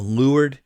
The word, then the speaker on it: leeward: they sailed on the lured side if you read that word anywhere it looks like it is leeward and you'll hear people pronounce it but sailors all always say lured side and so they sailed